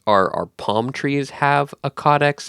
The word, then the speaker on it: caudex: So that word is caudex. That's spelled C-A-U-D-E-X.